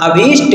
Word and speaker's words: अभीष्ट: उसके बाद आगे देखें अभिषई शब्द ही नहीं होता है अभित अभीष्ट कहते हैं अभीष्ट ठीक है अधा वस्त्र